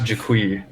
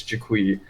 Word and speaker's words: Jiqui: co-host victor hello and our very special guest yes hello i am actually it's pronounced jaquie yeah i've been saying it wrong this whole